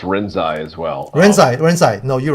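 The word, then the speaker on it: Rinzai: Well, I've heard it pronounced Renzai as well. Renzai.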